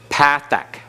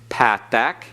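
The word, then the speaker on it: patah: Patak. Patak. Don't switch into modern Hebrew pronunciation of patak.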